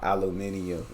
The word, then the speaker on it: aluminium: We're talking about a product called aluminium, and he's talking about aluminum. That's the way we pronounce it.